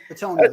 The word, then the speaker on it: Bitonio: Bitonio, yeah.